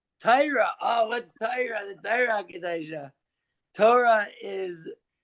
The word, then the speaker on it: Torah: It's like the way that Ashkenazis say Torah, how Sephardi would say it.